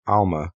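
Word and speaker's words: עלמה: only refers to a young woman, which is pronounced alma in Hebrew?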